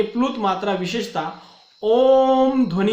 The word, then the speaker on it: ओम: अर्थात ओम ध्वनि का जो उच्चारण किया जाता है वह उच्चारण प्रदीर्घ होता है, इसलिए उस प्रदीर्घ उच्चारण वाली मात्रा को प्लुत मात्रा वहां पे कहा जाता है।